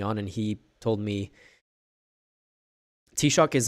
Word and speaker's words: Taoiseach: And he told me, Taoiseach is how it's pronounced.